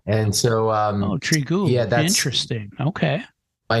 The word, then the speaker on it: Trigub: And so Trigub is the proper pronunciation. And so Trigub.